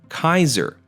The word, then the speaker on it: Caesar: languages are pronounced today in Latin the letter c was pronounced hard almost like a k thus the great Roman leader Caesar would have actually been pronounced more like Kaiser moreover J's were pronounced as wise so to pronounce his name the way he would have said it he wouldn't have called him Julius Caesar you would have called him Julius Kaiser after Caesar died future